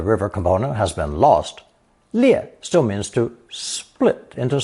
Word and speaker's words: 裂: Pronounced fourth tone, 裂, 裂.